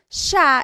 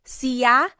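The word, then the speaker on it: siya: And again, just to point out the pronunciation, it looks like it should be pronounced sa, but it's usually pronounced sha sha.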